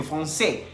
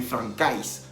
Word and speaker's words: français: La AI en francés se pronuncia E. Entonces, por eso dice Tomás que je suis professeur de français.